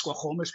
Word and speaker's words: Squamish: Um I'm not going to get the exact pronunciation correct, but the proper name is Squomish people, but I'm not going to try that again just to make sure I don't butcher anything.